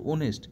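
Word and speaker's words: honest: দেখো হি is dash ওনেস্ট ম্যান ও উচ্চারণটা কিন্তু ওনেস্ট উচ্চারণটা ও এর মত আসছে সেজন্য আমরা এখানে সঠিক ন্সার আমরা এন বসাবো ঠিক আছে পরের কোশ্চেন দেখো।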